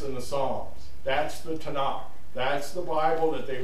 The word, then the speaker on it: Tanakh: mainly for pronunciation reasons so it's t-a-n-a-k Tana that's the Bible that